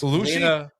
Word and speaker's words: Bellucci: It's Bellucci.